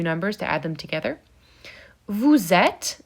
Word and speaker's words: êtes: Vous êtes, the final E is silent. Il or elle, sont, the final T is silent, and the N is nasally.